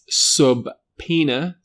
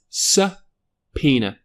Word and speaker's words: subpoena: It isn't subena. The B is in fact silent. Sena.